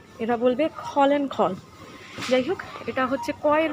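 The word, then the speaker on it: Gall & Gall: এটা বিভিন্ন লিকার্সের দোকান, গল অ্যান্ড গল, GALL, বানানটা লক্ষ্য করবেন, GALL এবং GALL, জি, বাট এরা জিকে খ উচ্চারণ করে, খ ফর খাবার দাবার, এরা বলবে খল অ্যান্ড খল।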